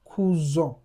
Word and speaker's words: cousin: You have the word cousin. Cousin. That's nasalized. Now, look at when we had E to the E in the English to that word, it becomes cousine.